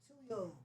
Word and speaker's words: Tuyo: So, to your toy, how would you pronounce that? T U Y Tuyo.